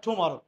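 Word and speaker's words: tomorrow: টুমরো যদিও অনেকেই বলবে টুমরো উচ্চারণটা এটা টুমরো ঠিক আছে ওকে টি এর উচ্চারণ সবসময় ঠ উচ্চারণ করা ওকে এইজন্য গ্রামারিয়ানরা বলছে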